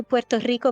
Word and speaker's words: Puerto Rico: I usually just say I usually just say Puerto Rico because when I say Puerto Rico people go I don't speak Spanish I'm like I'm not speaking Spanish I'm pronouncing it properly you know what's funny